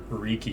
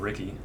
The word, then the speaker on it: Riki: you ever wonder why i say riki instead of ricky even though ricky totally says ricky and xenoblade but whenever it's spelled like that which is r-i-k-i that's usually how it's said that's how i say it was freaky so